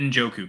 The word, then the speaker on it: Njoku: And so the N is silent, I'm assuming. Yeah, it's David Njoku kind of thing, like that type of pronunciation, Yama.